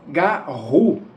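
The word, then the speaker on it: Garou: É garu g a tracinho r u. E a sílaba tônica seria a última, né?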